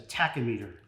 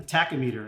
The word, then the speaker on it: tachymeter: markings on the bezel it's referred to as a tachymeter what's that a tachometer it's spelled t-a-c-h-y-m-e-t-r and on a watch